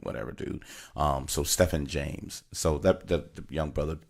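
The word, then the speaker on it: Stephan: played Walter Cruz was his name is Stephen James or Stefan James depends on who you ask you know some people say my name is Stefan's not Steven whatever dude so Stefan James so that young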